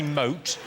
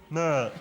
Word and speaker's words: moat: I I'm guessing that you're trying to say moat, but you're saying moot.